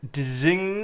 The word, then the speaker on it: design: of a young age could look at that design, and the teacher could be like, design. The G is silent. And he would be like, oh, like sign.